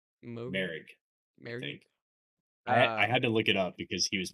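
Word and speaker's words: Moehrig: Is that how you pronounce his last name? Merrick.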